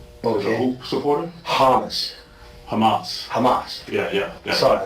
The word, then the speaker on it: Hamas: Khaled is a Hamas supporter. Okay. Is a who supporter? Hamas.